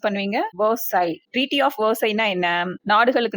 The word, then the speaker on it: Versailles: இந்த வேர்டு எப்படி ப்ரொனவுன்ஸ் பண்ணுவீங்க? வெர்சை.